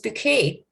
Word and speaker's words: Bucket: call it bouquet and she used to pronounce her name mrs bouquet i since bouquet was